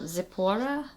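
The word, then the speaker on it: Tziporah: different ways um essentially in Hebrew this letter makes a t sound it's not quite a z that's why I think the TZ makes more sense it's kind of like when you say Ritz that sound at the end is is what that Mak so Zapora and now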